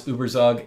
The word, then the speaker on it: ueberzug: Firstly, the program that generates the image previews is ueberzug, which in America we pronounce ueberzug.